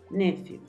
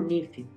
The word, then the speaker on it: nephew: Sobrino se dice nephew. A veces lo he escuchado como nephew. Se puede nephew o se puede nephew.